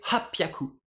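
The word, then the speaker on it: はっぴゃく: Pareil pour 800, hachi hyaku. Ça va donner hapyaku.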